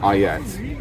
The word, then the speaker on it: ailettes: So these are, the pronunciation varies, it's Ailettes, A-I-L-E-T-T-E-S, is that some people claim it's the predecessor to things like the spalder for shoulder defence.